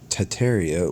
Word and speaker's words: Tartaria: Tartaria, originally pronounced Tataria without the first R, is the name of the pre-Molian Empire that originated in the northern Asia before spanning the entire northern hemisphere.